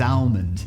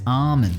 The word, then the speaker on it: almond: My wife, who born and raised in Brisbane, Australia, she says almond. Almond. I'm like, what do you want about almond? It doesn't even remotely sound like you're trying to say the L in the word.